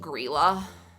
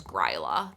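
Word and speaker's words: Grýla: I did not know that her name was pronounced grela until like two days ago I thought it was gryla this whole time and I saw someone pronounce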